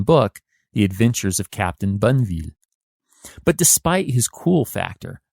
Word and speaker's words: Bonneville: the adventures of captain banville but despite his cool factor the captain who will get a ton of stuff in my home state of utah named after him even if it's mispronounced as bonneville and other american fur